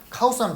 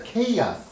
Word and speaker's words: chaos: 다시 한번 발음하겠습니다. 카오스하면 죽어. 자, 케이아스.